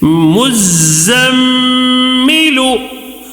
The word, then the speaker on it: مزمل: ٹھیک ہے، اب یہاں پہ غنہ بھی کرنا ہے کیونکہ میم کے اوپر تشدید آیا ہے. چلو ہجے کریں گے. مزمل، مزمل.